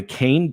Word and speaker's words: Kain: 11th all right you need to go to cane. auto yes I said it right cane.